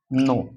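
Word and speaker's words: know: एन ओ डब्लू इसको क्या पढ़ते हैं गाइस नो क्या पढ़ते हैं नो अब इसमें आपके साइलेंट छोड़ें क्योंकि के के तुरंत बाद एन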